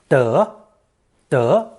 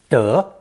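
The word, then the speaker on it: 德: form of the character pronounced second tone duh indicating rectitude of the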